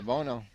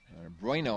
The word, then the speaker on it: Bueno: It's intercepted by Bono. Bueno, I guess, probably is a better way to pronounce it. B-U-E-N-O.